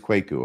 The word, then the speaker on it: Kwaku: And so the first thing, it is Kwaku.